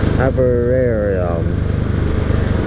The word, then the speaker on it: Aberdovey: the last night, but we switched it to Aberdovey. Wow. Love me a little seaside town, I do. You tell me how to pronounce that.